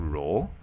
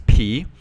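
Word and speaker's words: rho: It is called row. Okay. Uh please do not pronounce it as P.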